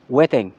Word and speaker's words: jueteng: Hi folks Magandang araw huweteng we pronounce weteng sa Tagalog Ito ay laro ng